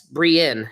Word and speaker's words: Brienne: Your name is pronounced Bri. Yes, Brienne. Yes. Like um like fleeing.